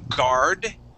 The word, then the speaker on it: guard: I have a question about the pronunciation of guard. Every okay. word which begins with G and then a U, I don't pronounce the U. Yeah, usually you would not. Excuse me. You would say words like guard, okay, mm-hmm.